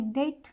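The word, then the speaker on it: debt: पहले अगर बी आए दूसरा रूल कहता है टी से के पहले अगर बी आए तो हमारा बी साइलेंट होता है डाउट यानी डेट डाउट डेट माने कर्जा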